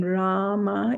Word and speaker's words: Rama: The long a in Rama is open like in far.